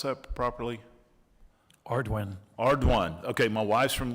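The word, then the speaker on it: Ardoin: Secretary Ordon, did I pronounce that properly? Ardwin.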